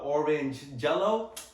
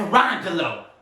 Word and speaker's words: Orangelo: oh, I'm sorry if I mispronounced the first name, but it looks a little bit like orange jello. Hey man, that's Orangelo, okay?